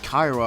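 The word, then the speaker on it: Kayura: that show named Kyra but despite it being pronounced Kyra official stuff spelled it with a u but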